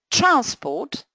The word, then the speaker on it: transport: So, transport stress on the first syllable would be a noun.